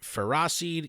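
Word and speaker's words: Ferroseed: biomes for forests caterpie taylor crowe gunk joltik ferracid carob last shellmet and many more and yes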